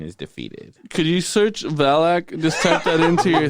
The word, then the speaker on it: Valak: 2 uh, syllables. Valak. Fire. Like Dylan.